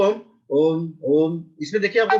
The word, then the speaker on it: ओम: इस पूरे ओम के उच्चारण में मैंने सिर्फ ध्यान से सुनिएगा, ओ, इसमें म है ही नहीं, लेकिन है ये ओम।